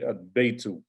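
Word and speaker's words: البيت: Ba is min haruf, it's a haruf al-qamariyah, it's a moon letter. So we say al-baytu, whereas dik, so the dal is that a sun letter or moon letter.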